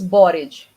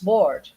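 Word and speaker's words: board: Loa Quadro bored bored same pronunciation different spellings but why do we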